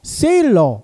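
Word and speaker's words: Thaler: 세일러, 이 교수님이요. 미국에서 태어났지만 독일계라는 거예요. 그래서 이 세일러가요. 독일식 발음으로 하면 탈러라고 합니다.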